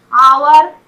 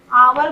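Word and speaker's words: hour: आवर, आवर बोलते हैं, आ का साउंड यहाँ एच साउंड नहीं हो रहा।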